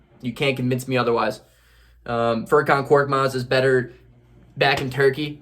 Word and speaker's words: Furkan Korkmaz: The Raptors broadcasters didn't know how to pronounce his name, and they literally called him Korkmas for the whole game. And it's just, that is beautiful. That is so beautiful to me, because Furkan Korkmaz is the perfect name for that guy.